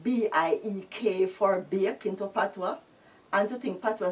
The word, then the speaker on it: patois: language in school like B-I-E-K for bake into patois. And to think patois spelled so P-A-T-O-I-S, which is patois, patois.